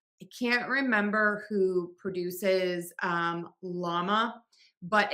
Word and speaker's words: LLaMA: I can't remember who produces llama, but it is pronounced the same as the animal llama.